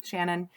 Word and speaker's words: Ciannon: did look up, and I think her name is pronounced Shannon.